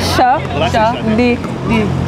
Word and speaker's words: Shadi: Am I saying this wrong? Sade. Okay, pronounce it. Shadi.